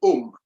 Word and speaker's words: Om: C'est un symbole qui est plus sacré, le Om. O-M, mais le prononcer A-U-M. Om.